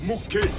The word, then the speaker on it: Mouy: Mouy, ça se prononce Moué.